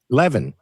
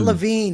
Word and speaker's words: Levin: And, I find it so interesting because Mark Levin, another Trump apologist, shared a Laura Loomer. Mark Levine? Yeah, Mark Levin. What did I say? Levin. It is. It's Mark Levin. Mark It's Levine. not Levine.